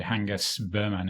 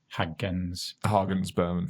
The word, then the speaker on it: Hagens Berman: Hangus Berman, is it? Hagens Berman. Yeah. Hagens Berman.